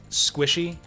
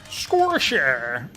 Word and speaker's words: Squishy: like the squid guy you might think he's squishy is what that guy's name is spelled like but no it's pronounced squisher you might think that